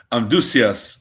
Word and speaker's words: Amduscias: Amduscias is how we pronounce it, although we're not really sure what it sounded like in the BC times, the BC days.